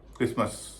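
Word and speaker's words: Christmas: Silent T का सबसे common उदाहरण है क्रिसमस। सी एच आर आई एच टी एम ए एस। इसमें टी का उच्चारण नहीं होता।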